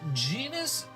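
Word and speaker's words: Jenis: Genus rhymes with penis Royal Academy.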